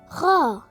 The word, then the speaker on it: خ: It sounds like the English alphabets K and H. KH for Horfakan. Horfakan, a city in the Middle East. Khaa. Khaa. Khaa. Khaa. How to pronounce Khaa? You can create Khaa sound from the mid of your throat.